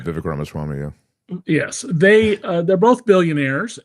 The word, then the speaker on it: Ramaswamy: Elon Musk and Vivek Swamy, mispronouncing his name. Yeah, right, Vivek Ramaswamy, yeah.